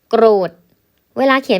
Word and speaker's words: โกรธ: ลูก โกรธ จัด โกรธ โกรธ เวลา เขียน เป็น คำ อ่าน ก รอ โอ ด โกธ แสดง ว่า เสียง